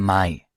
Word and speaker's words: Mai: Iya, bukan Mei, bacanya hat im Mai Geburtstag. Hat Ya, im Mai Geburtstag. iya, Mai ya, AI Mai ya.